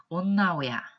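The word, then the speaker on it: 女親: 그리고 한자로 모친이라고 썼을 때는 온나오야, 온나오야처럼 둘 다 훈독을 하고요.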